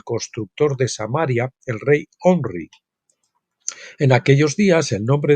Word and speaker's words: Omri: de samaria El Rey omri en aquellos días el nombre de este Rey en realidad era pronunciado como gomer o gomri los los asirios que